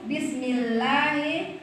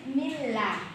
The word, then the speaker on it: bismillah: pertama yaitu bismillahi farqolam ya farqola ya ada di bismillah lah ya bismillah di atas huruf lam bismillah itu lnya tuh harus ditasdid jadinya bismillah ya jangan bismillah itu berarti lewat ya harus bertasjid bismillah nah gitu ya cara